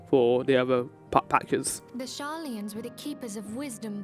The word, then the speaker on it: Sharlayan: does the name Sharlayan ring any bells? Not how you pronounced it. Sharlayan.